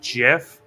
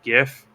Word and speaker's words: GIF: uh says it's pronounced jif but since the g stands for graphics it should be gif so he's wrong yeah